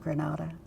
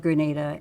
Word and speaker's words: Granada: Colorado and um the the locals there pronounce it Grenada not Granada um the town had